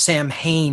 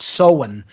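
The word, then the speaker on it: Samhain: autumn was uh the the Sabbath called uh soen it's spelled s a m ha a i n not pronounced Sam Hae but seen in the uh dtic tradition this is of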